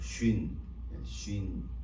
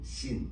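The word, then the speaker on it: שין: 이빨로 이렇게 해서 가운데 이렇게 돼 있는데 예 오른쪽 위에 점을 찍으면 이렇게 발음을 하고요. 왼쪽에 점을 찍으면 신 이렇게 발음을 이렇게 합니다.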